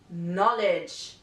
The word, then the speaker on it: knowledge: all right letter K the letter K is always silent before the letter n for example knife knock knowledge letter L this letter